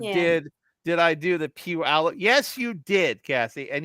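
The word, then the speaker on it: Puyallup: So did did I do the pew alo Yes you did Cassie and you did it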